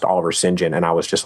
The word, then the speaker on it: St John: I was like yeah actually it's pronounced Oliver Sinjin now it's just oh